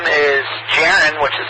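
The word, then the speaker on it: Jaron: and call sign again absolutely my name is jiren which is spelled Juliet Alpha Romeo Oscar November and my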